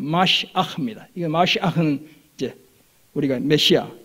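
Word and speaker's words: משיח: 이 그리스도를 뜻하는 히브리어가 바로 히브리어 그대로 발음하면 마시아흐입니다.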